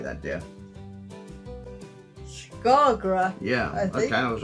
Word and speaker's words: Skagra: Skagra.